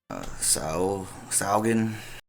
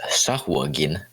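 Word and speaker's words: sahuagin: tiny warhammers at the Saugin. I think that's how it's pronounced. Saugin. Yeah. You just ignored a U. Yeah. I was practicing it last night. I believe it is Sahwagin.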